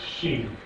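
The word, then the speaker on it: שין: When it's on the right, where it is normally, it's sheen. When it's on the left-hand side, it's sin. It's pronounced sin. Sheen and sin.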